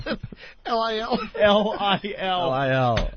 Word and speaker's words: Lil: L-I-L? L-I-L. L-I-L. Not little. It's Lil.